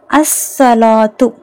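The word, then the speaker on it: الصلاة: உச்சரிக்கணும் அல் குர்ஆனு next அஸ்ஸலாத்து அஸ்ஸலாத்து பாருங்க ஸ்வாது ஷம்சியாட எழுத்து அதனால லாம் உச்சரிக்கப்படல அஸ்சலாத்து ஓகேங்களா சலாத்துனா ஒன்னும் இல்ல நம்ம செய்ற வணக்கம் தான் ஓகேங்களா தொழுகை மோஸ்ட்லி தொழுகைதான் அது குறிக்கும்.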